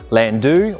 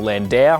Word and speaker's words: Landau: So this is a 1974 Ford Landu or Landau, however you want to pronounce it.